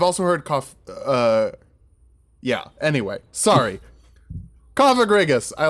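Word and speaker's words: Cofagrigus: I've heard it mispronounced. I am 99% sure it is Cophagrigus. The other way makes it sound like there's a slur in the middle of the name, and I don't think that's correct.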